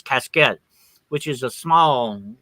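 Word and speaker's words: cassette: caskets they were we we call them caskets but the French pronunciation is cascet which is a small like a little trunk type thing.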